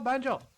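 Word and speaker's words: 便所: to refer to them Benjo Benjo all one all one word no stressing the O Fu your and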